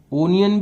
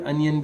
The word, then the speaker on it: onion: नी, य और न, ओनियन भी कहते हैं, और जो प्रोग्रेसिव इंग्लिश है उसमें अनियन भी कहते हैं, जैसे पोटैटो को पटेटो भी कहते हैं।